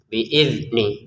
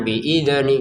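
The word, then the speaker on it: بإذن: Huruf dalnya jangan dipantulkan. Biizni gitu ya, jangan biidzni gitu ya.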